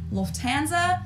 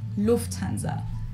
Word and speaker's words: Lufthansa: In English, people usually say Lufthansa, but in German, we say Lufthansa. So the emphasis on the first syllable, different accent, but Lufthansa I got it.